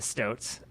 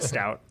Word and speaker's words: stoat: I believe that is a stoat. A stoat. Okay, it's not a stout. No. Okay. Pronouncing That it wrong is the this whole beer. time. The stoat is the animal.